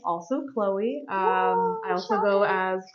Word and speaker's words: Chloe: oh yeah CH R also you may hear me referred to as chol uh it's just a mispronunciation of my name that my friends thought was funny good distinction it good